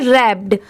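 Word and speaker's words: wrapped: बट इसकी pronunciation क्या है? रैप्ड आर A double P ई डी बस इतना ही प्रोनाउंस किया जाता है। डब्ल्यू को नहीं ऐड किया जाता। यह भी इस वर्ड में डब्ल्यू लेटर साइलेंट है।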